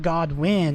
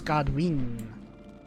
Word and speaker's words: Goldrinn: It's not Godwin, it's Goldrinn.